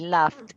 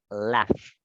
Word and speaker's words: laughed: Y laughed es en pasado reí, ¿sí o no? Entonces, como la pronunciación es de una F, la pronunciación de esta es laughed, laughed, Laugh, laughed.